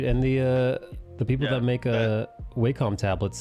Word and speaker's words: Wacom: And the people that make Wacom tablets say it should be pronounced Wacom. Whack-a-mole? Yeah. Bonk. But I pronounce it Wakem because it sounds better.